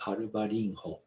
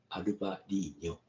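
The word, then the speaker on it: Albariño: I used to pronounce Albarinho, but I learned Albarino in Portuguese.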